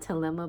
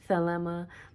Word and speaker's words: Thelema: I call it Telema, but it's Thelema, whichever way you want to pronounce it. Most languages I know use the TH and say tuh, tuh, like that.